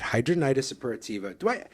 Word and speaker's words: hidradenitis suppurativa: my social security disability practice, I find that hidradenitis suppurativa, I've been saying it this way it's one of the most mispronounced things it's a out long there.